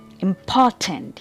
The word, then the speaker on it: important: Important. Here the stress is on the second syllable.